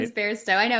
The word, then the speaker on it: Bairstow: That's like my one Achilles heel, where Well, it's and like it's yeah, it sounds like bear, but isn't written like bear.